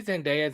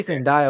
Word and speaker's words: Zendaya: i don't know bro you say sendai one more goddamn time i swear to god i don't know love her i just don't i've i've always said it wrong um zendaya there we go she had actually said